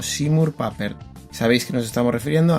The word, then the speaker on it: Seymour Papert: Y digo Seymour Papert porque es como siempre se ha pronunciado. A veces yo mismo digo Seymour Papert cuando lo estoy leyendo, pero ellos lo pronuncian como Seymour Papert.